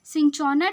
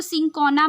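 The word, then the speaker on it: Cinchona: Next आते हैं, सिंचोना tree gives us, या तो सिंकोना भी बोल सकते हैं इसको, अलग अलग मतलब कंट्री में अलग अलग इसका प्रोनाउंसिएशन है, सिंकोना भी हो सकता है, सिंचोना हो सकता है।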